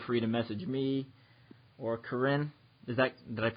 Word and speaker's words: Karin: And if you want more information about Hammer Nutrition products, feel free to message me or Karin.